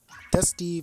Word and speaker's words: dsuty: Um, Dusty versus Kristen. I know it says dsuty, but it's pronounced Dusty to me at least.